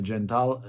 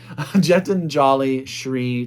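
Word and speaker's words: Geetanjali Shree: that's tomb of sand by Gentile uh I said it right the first time Jet and jolly SRI translated by Daisy Rockwell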